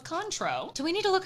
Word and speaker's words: Cointreau: I say Contro. I think the I is silent. Oh, so it's Contro.